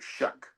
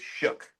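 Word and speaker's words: Shough: We learned after all of our debate about Tyler Shuck that it's Tyler Shuck. Shuck. Almost He Shuck. Sounds like he's sucks. trying real hard to not make it Shook.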